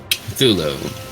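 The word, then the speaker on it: Cthulhu: I convinced him that the proper way to pronounce uh one of the more commonly known names in lovecrafts Mythos would have be thulu mhm so I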